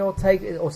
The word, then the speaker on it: Ortega: and you know, some do and some don't, and you kind of think, well, I mean, Ortega, is it? That's how you pronounce it.